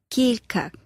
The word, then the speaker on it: Kilkak: Writer, you have to say Kilkak.